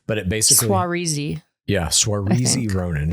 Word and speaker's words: Saoirse: I can never pronounce her name right, but it basically... Saoirse.